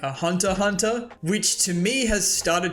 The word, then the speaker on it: Hunter x Hunter: called Hunter Hunter because I know the x is silent right it's not Hunter x Hunter it's Hunter Hunter and I don't know